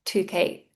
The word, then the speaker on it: toothache: Listen to the pronunciation of toothache toothache, sorry. A C H E ache. So, you might have a headache, stomach ache, toothache. It sounds like a K sound.